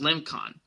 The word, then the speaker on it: Limcan: And he asks, "Have you seen the channel of my girlfriend Amanda Limcan, pronounced Limcon?"